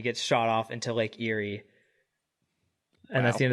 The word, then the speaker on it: Erie: then Seamus is like, "Oh, you boy, you're pronouncing it wrong. It's not Erie, it's Ere."